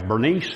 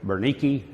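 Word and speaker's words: Berenice: Now, I've seen this pronounced different ways. Bernice is how we pronounce it in English. Berenike is a pronunciation that I've seen, so I'll probably say it 18 different ways.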